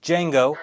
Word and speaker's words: Django: Django The D is silent.